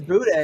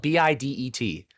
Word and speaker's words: bidet: couldn't today is spelled b-i-d-e-t but we did wait what so it's gonna be fine d-e-t bidet it's gonna be French yeah yes that's weird